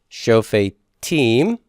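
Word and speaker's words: שופטים: Where's my tone? It's going to be on the final syllable. Shofetim.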